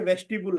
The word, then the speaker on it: vestibule: और एक आप जो ये वेजिटेबल ट्रेनिंग बोल रहे हैं, वेजिटेबल नहीं, ये वेस्टिबुल है। ठीक है, रेस्टिट्यूट सर। वेस्टिबुल, ठीक है सर। VESTIBULE, वेजिटेबल नहीं है, थोड़ा ध्यान रखना है ये।